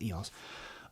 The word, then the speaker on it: EOS: eos r3 eos r3 so how you pronounce it just watched a philip bloom video and he corrected me well corrected everybody it's eos um i rented that